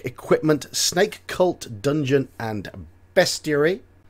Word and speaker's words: bestiary: snake cult dungeon and bestiary I do hear a lot of people say pronounce that word beastiary no it is bestiary bestiary why the best theory or bestiary it's a short e and energy weapons right